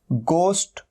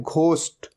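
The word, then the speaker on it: ghost: क्या होता है भूत और कई लोग इसे गलत भी प्रोनाउंस करते हैं इसे कहते हैं घोस्ट यह घोस्ट नहीं होता हमेशा ध्यान रखना है ये क्या है गोष्ट गोष्ट और यह इसे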